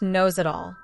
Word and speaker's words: Nosedal: In my sophomore year, we had an extremely boring English teacher named, get this, Mr. Nosedal. Pronounced Nose-it-all. It was kind of funny at first, but then I honestly started feeling bad for this guy.